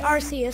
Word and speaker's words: Arceus: pokemon rks adventure and i know that's not how you say it it just sounds so much better than what everybody's correct it's arceus arceus sounds stupid it's our chaos hey are you going